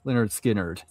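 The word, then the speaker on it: Lynyrd Skynyrd: Pronounced Leonard Skinnard.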